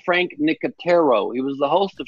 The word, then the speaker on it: Frank Nicotero: Rachel, it's pronounced Frank Nicotero.